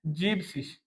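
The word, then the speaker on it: siebzig: जीबसिस।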